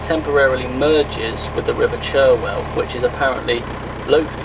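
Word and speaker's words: Cherwell: canal where it temporarily merges with the river chirwell which is apparently locally pronounced charwell so here's this interesting weir lock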